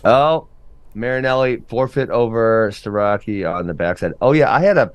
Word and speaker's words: Starocki: Oh, Marinelli forfeit over Starocki on the backside. Oh yeah, I had a Pennsylvania native saying that I pronounced Starocki correctly, and I'm the only one in FRL who does so, and they would like